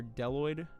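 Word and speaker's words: bdelloid: Uh these in particular are deloid roifers. Here, I'll type it out. Deloid roifer. The bee is silent.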